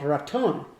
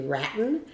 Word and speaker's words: Raton: New Mexico and and I remember one time I heard a newscaster say ratten or something like that was like yeah but